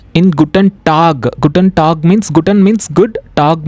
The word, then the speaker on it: Guten: G-U-T-E-N. We call it as not Gutin. We call it as Guten. Okay. E we call it as A. Guten.